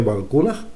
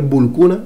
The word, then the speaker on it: Balkuunah: Pero es que no, no indica nada, no indica nada más que nos diga, está claro que Valcunaj es por cuna.